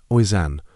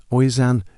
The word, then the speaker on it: Oisin: Next up, a popular boy's name, Oisin, spelled Oisin. This one is pronounced Usain.